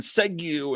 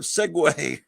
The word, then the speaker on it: segue: stream I'm saying uh and saying segu instead of segue it's like and I